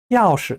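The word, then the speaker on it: 要是: 要是 할 때 시자는 좀 약하게 경성으로 발음해요. 我是一个大苹果 할 때 시자는 제4성으로 강하게 발음합니다. 要是 할 때는 좀 약해집니다.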